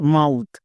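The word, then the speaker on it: mouth: যেমন ওয়ার্ড দেখো এম ও ইউ টি এইচ এর উচ্চারণ হচ্ছে মাউথ।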